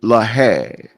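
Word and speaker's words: להג: The Hebrew pronunciation for the word study is lahag.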